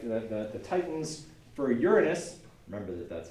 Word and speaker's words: Uranus: For Uranus, remember that that's how it's pronounced.